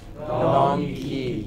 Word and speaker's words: donkey: Donkey. It is not dong, it is dung. Open your mouth, like the hood of a crocodile. Donkey. Open it fully and close it quickly.